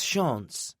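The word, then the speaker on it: Chance: It's Shaun. It's spelled C H A N C E, but it's French.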